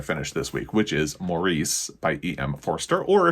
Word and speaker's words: Maurice: this week which is Maurice by em forer or if you're in the UK it's pronounced Morris just you know the